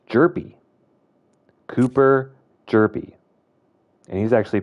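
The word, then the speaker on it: Hjerpe: and just say Cooper Herpy whenever he's playing. So, I found out it's actually the H is silent. It's jerpy.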